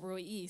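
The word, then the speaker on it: El Roi: She said Roy E, so I don't know.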